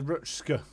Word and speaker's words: Rutsch: Basically, ignore the C. Rutsch. Rutsch.